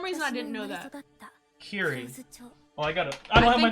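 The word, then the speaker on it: Kirie: Kiri. Oh, I don't have my notes right now. I think they pronounce it Kyrie.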